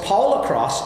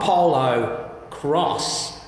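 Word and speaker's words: Polocrosse: than I realize that of course Paula cross is not polo cross it is actually a combination of polo and lacrosse so in fact it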